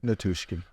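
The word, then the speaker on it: Nichushkin: The big train there, Nutrishkin. Yeah. Is that how you say it? Valery Nutrishkin? Natushkin.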